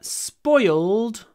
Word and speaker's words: spoiled: The weather spoiled my party. It spoiled my party. Here we have y before l, so we get an extra syllable.